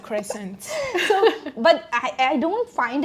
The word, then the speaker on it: croissant: You pronounce it too well. You have to pronounce it croissant.